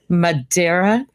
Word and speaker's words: Madera: Oh, yes, it's my honor to have you here, especially since you are running for Madera. I'm going to probably pronounce it not properly, Madera.